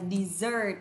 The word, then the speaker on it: dessert: Desert và từ này là trọng âm rơi thứ hai này. Từ này là danh từ nhưng lại đọc là dessert, là món tráng miệng. Món tráng miệng. món tráng miệng. Desert là sa mạc và món tráng miệng là dessert.